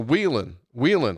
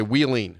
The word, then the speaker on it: Wheeling: There's a major commercial that's on the radio, and it goes on, and it says, to Wheelan.